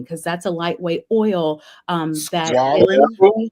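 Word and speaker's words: squalane: Squalene? Yes, I'm squalene or squalene. Squalene. That's the right way to pronounce it.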